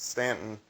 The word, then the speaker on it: Staunton: So if you like the city of Stanton in Virginia is spelled Staunton, but it's pronounced Stanton.